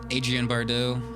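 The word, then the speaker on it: Adrienne Barbeau: I pronounce it Adrienne Bardeaux. I think that's how you pronounce her name.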